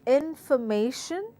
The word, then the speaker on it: information: again syllable stress identification the word says information so what's this word has four syllable and the stressed word is M a so let's hear me